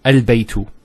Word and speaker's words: البيت: Now knowing that this is a hamzatul wasl, we know that with hamzatul wasl, if it starts off a sentence, it's pronounced. So al-baytu.